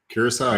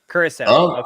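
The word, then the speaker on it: Curaçao: krakow i don't know how to say it curacao yeah curacao yeah i definitely want to go out there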